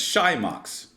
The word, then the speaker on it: Xymox: Everyone, welcome to see how pronounced. Say it. Xymox. Xymox? So I guess it's Xymox.